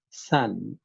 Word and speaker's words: son: should be discussed here that s o n pronounces Sun like s u n s u n s